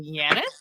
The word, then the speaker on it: Janet: This is like, she said, we pronounce her name like Janet, but with a Y. So Janet, I'm assuming Colombian.